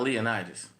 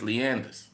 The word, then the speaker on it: Leonidas: In New Orleans, it's not Leonidas. The street is Leander. But, it's spelled Leonidas.